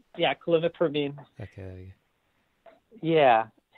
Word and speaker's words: clomipramine: question is, please talk about the benefits of clomipramine. Good. Yeah. Yeah. Is that right? Uh-huh. Okay. Yeah, that's right. Yeah, clomipramine.